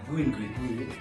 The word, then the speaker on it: Guin: Jadi teman-teman, jika penasaran dengan apa yang dibahas oleh Beli Doni di channel Guin ya, dibahasnya Guin atau Juin? Ya, Guin.